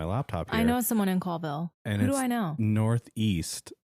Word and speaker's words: Colville: into colville washington where wait what is it coldville or colville like ah it's spelled col but it's colville so they moved to